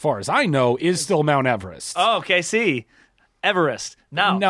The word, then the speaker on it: Everest: is pronounced eve rest with the eve pronounced as the woman's name but everybody refers to